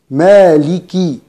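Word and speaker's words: مالكِ: الكاف مكسورة، إذن عند الوصل ننتبه لكسرة الكاف، نقول مالكي مالكي مالكي يوم الدين.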